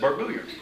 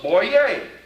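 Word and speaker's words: Boyer: and i said who he said barbarian and i asked him to spell it and he did he knew how to spell it he was an outlander anyhow and it was b-o-y-e-r i said oh i thought that was boy yay uh french he laughed and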